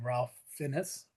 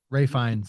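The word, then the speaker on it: Ralph Fiennes: Ian Kelson played by Ralph Finnis or Finn Ray Fines actually. It it's it's Ray Fines is how you it's it's he's he pronounces his name completely different from how it's spelled.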